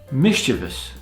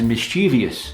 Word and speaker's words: mischievous: Mischievous, causing or showing fondness for making trouble in a playful way, mischievous. Often mispronounced by native speakers as mischievous, but it's mischievous.